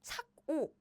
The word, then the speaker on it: 착오: And this one is 착오, right? But the pronunciation is exactly the same.